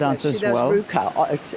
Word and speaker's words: RVCA: She does Ruka. It's pronounced Ruka. It's spelled RVCA.